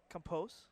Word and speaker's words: Campos: med doc or Fallon Campos that time or compose as Derek say now is pronounce it compose Gary's never wrong web